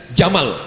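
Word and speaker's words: جمل: Wajamal, cantik, tapi bacanya pakai alif. Wajamal, jamal, cantik. Tapi kalau tak pakai alif, jamal, onta.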